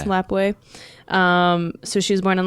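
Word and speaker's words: Lapwai: Is that how you say it? I'm assuming that is how you say Lapway, it. It's Lapway.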